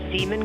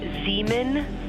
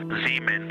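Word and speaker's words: Zeeman: We believe that's Seaman Crater. Oh, I floated away from the speaker. Say it again, please. We believe that that is Zemen Crater. Zemen.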